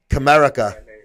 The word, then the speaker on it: Comerica: Comerica. Comerica Muscle, yeah, like Captain America, but Comerica, yeah.